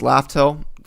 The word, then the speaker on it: Laftel: Because it turns out Raftel was supposed to be spelled and pronounced Laftel.